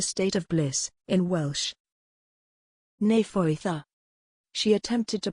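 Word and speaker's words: Nefoedd: her acumen yes precisely it is spelled n-e-f-o-e-d-d but the two-letter d's are pronounced as a th sound what a beautiful name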